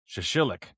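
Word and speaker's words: shashlik: Shashillik.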